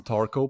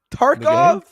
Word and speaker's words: Tarkov: The man has played some Tarko, perhaps. What did you say? Tarko. Do you know? Tarkov? Yeah, Tarkov? Escape from Tarkov. Yeah. Tarkov. Do you not pronounce the nice V?